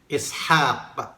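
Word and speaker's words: إسحاق: Ishaq, pansinin ninyo, ang litrang ha, mayroong alif yan. Pero ang pagkakasulat sa Quran, wala. Pero ang bigkas niyan ay mayroong alif. Ishaq, meaning Isaac.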